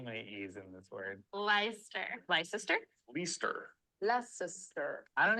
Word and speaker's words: Leicester: I know someone named Lester, and that's not how it's spelled.